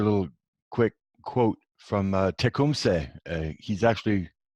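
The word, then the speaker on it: Tecumseh: little quick quote from Tacoma say he's actually the proper way to pronounce it is check whom say and he was Shani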